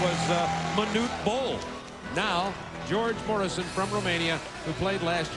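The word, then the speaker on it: Gheorghe Mureșan: International Applause thank you George Morrison I understand is how he pronounces his name from Romania played in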